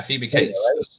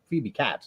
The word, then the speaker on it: Phoebe Cates: and Dante and everyone Phoebe Kate pronounce it case I believe yeah Phoebe Cates yeah I've heard people say Phoebe cats I'm like that don't sound right I used to pronounce